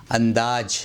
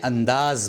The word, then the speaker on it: انداز: 33 number پر ہے، اس کو بولتے ہیں انداز، یہ غلط ہے، انداز نہ بولیں انداز بولیں۔ 34 نمبر پر اس